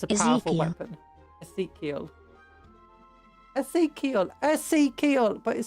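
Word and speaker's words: Ezekyle: No, it's not Isekai, it's Ezekiel. Ezekiel. Ezekiel. Ezekiel? I don't know how to pronounce that.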